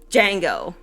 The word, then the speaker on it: Django: Anyways, Keynes said Django, and I'm sitting there and I'm sitting there going, do you mean Django with a silent D?